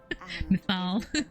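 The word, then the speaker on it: Mythal: I finally have the pronunciation for that name. Mithal.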